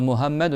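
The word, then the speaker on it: محمد: Chez les Turcs par exemple beaucoup ils disent un ha dire un ha dire Mohammed dire Mohammed.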